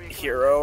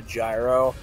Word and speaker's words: gyro: you say um so he pronounced uh hero wrong like he calls it a gyro and then people in